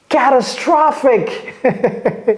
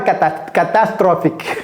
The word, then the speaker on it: catastrophic: Catastrophic. C'est pas catastrophique. Ok, catastrophic.